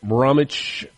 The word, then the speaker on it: Bromwich: The British rock vocalist was born in West Bromwich, England. I'm assuming that the W is silent there.